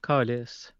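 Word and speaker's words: câlice: Well, depends on how you say it. You can talk about the object. So give me the profanity. Give me the profane version. The profane is calice.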